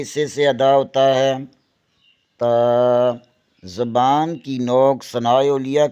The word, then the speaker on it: ت: لہجے میں ادا کریں، اردو تلفظ سے پرہیز کریں، یعنی بے، تے، سے، جیم، اے، خے، توئیں، زوئیں وغیرہ ہرگز نہ پڑھیں، بلکہ با، تا، سا، حا، خا، تو، زو پڑھیں۔ ان 29 حروف میں